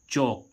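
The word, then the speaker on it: chalk: अब के से पहले एल आता है तो वहां पर एल साइलेंट हो जाता है। जैसे हम देखें सी एच ए एल के चौक। चौक मींस क्या होता है? चौक। अब देखो यहां पर एल का उच्चारण नहीं हो रहा है।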